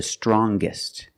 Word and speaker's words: strongest: er or with est, we're going to pronounce the g sound, the hard g. So it's younger, with a g sound. Stronger, the youngest, again with the g sound. The strongest, gist, the strongest.